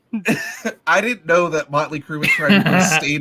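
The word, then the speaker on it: Mötley Crüe: You guys ever heard of a band called, am I pronouncing this right? Motley Crue?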